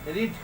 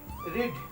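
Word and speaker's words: read: करेंगे भी नहीं, बट हम लोग का जो पढ़ने का तरीका होगा, प्रोनाउंसिएशन होगा, वो बदल जाएगा। क्या हो जाएगा, ही डिड रीड, क्योंकि अब V1 हो गया। अगर हम इसको ही डिड रेड पढ़ते हैं तो गलत हो जाएगा, ही डिड रीड पढ़ना पड़ेगा।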